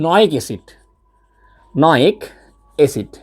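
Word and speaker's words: -oic acid: এটা না উচ্চারণটা হয় নয়িক অ্যাসিড, সো নয়িক অ্যাসিডটা কেমন দেখো, যেমন মিথানোয়িক অ্যাসিড, যেমন দেখো HCOOH, এটার নাম কি মিথানোয়িক অ্যাসিড, ঠিক আছে।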